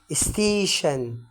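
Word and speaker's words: station: ودي بتبقى بتيجي في نهاية الكلمة، بتيجي في نهاية الكلمة زي كلمة ستيشن، ستيشن اللي هي المحطة.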